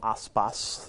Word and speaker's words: Aspas: Be careful with how you spell ASPAS. It's a dangerous zone with all the A's and the S's. It's an unusual Norwegian last name. Aspas is how it's pronounced.